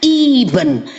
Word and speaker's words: Eben: Ini jangan lu pada Kristen di Indonesia, lu baca Eben. Katrok lu. Nggak punya ilmu. Baca Iben. Karena dalam bahasanya orang Yunani dan orang King James Version, huruf E dibaca I.